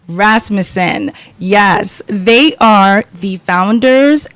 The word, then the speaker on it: Rasmussen: It's Rasmussen. Rasmussen.